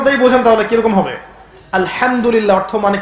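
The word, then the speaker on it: الحمد لله: আলহামদুলিল্লাহ অর্থ মানে কি? এখানে যে হা আছে, এটা কি বড় হা না ছোট?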